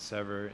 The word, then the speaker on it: Sever: It's pronounced as Sever, meaning to separate.